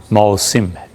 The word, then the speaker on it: موسم: مقابلہ کیسے کریں گے۔ اب یہ ایک لفظ موسم اور ایک ہے موسم، اصل تلفظ کیا ہے؟ موسم ہے۔ ہم سب موسم بولتے ہیں تو اب چل پڑا ہے، ورنہ اصل میں یہ لفظ موسم ہے۔ آج موسم کیسا ہے؟